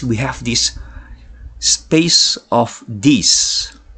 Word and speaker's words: Disse: Next, we have this space of Dis, right? Not Disse, right? So it's pronounced as space of Dis.